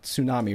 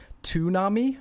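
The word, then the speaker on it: 津波: an S it's it's you have to actually pronounce both of them so it's sue tsunami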